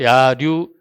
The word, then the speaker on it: 야류: 분포돼 있는데 요 낙동강을 중심으로 해서 이 동쪽은 야류, 들판에서 노는 들노름이다 해서 야류, 한자로는 유예요. 야유인데 그 부르는 분들이 그러니까 동네 야류나 수영 야류 하는 분들이 류로 발음을 해요.